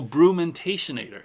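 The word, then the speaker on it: Brumentationator: Also, it's pronounced like fermentation-ator, but the first syllable is brew. So brumentation-ator.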